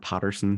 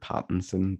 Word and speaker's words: Pattinson: Adam has a bit of a culty accent, so whenever he says Robert Pattinson in Robert Patterson, he means Robert Pattinson, but yeah.